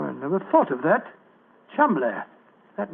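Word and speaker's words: Cholmondeley: Being an American, he had no reason to know that the name Chumbllay is in no way pronounced the way it is spelled. Joe, I never thought of that. Chumbllay.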